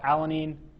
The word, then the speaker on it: alanine: So, alanine alanine three syllables.